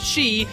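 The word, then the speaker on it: 四: out japanese gamers as the number 4 is pronounced shi which is also the word for death in the previous male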